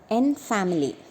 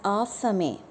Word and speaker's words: en famille: En family. The meaning of en family is as a family. Actually, the correct pronunciation is en famille. En famille is a French word.